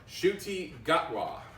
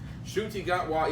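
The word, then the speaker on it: Ncuti Gatwa: doctor will be will be sex education star shooti gatwa say what shooty got law i had to look up how i pronounced the name but you know if i'm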